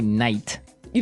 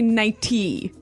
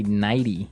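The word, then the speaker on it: nightie: but you don't say night you don't say nighty you say nighty yeah you you make the t a d nighty now she offered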